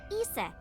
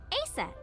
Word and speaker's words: Isis: Horse's mom is named Isis, but in ancient Egyptian, it's pronounced closer to Isa or Aset.